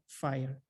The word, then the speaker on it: FHIR: It's pronounced FHIR, not fair or fire or fear or whatever.